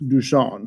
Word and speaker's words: Duchamp: well first of all dusan pronounced dusan who was a french